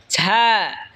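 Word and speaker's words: ز: এরপর হলো ঝা। ঝা জিহ্বার আগা সামনের নিচের দুই দাঁতের আগার দিকে লাগায় উচ্চারণ হবে ঝা।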